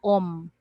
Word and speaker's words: om: i it's called om so om actually is a syllable it's a syllable in the hindu language and it is composed of three sound the sound of a the sound of u and the sound of m so om so the